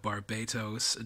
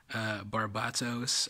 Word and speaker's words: Barbatos: Here we have the Gundam in question, Barbatos, I think is the closer pronunciation to the Japanese, in a fighting stance